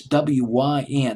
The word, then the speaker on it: Wyn: It's W-Y-N. I'll just pronounce it as Wyn. Maybe it's Wyn Cooper.